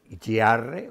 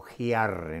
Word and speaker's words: Giarre: Mi abuelo nació en un pueblo que se llama Giarre o Giarre, ¿no? Se escribe Giarre.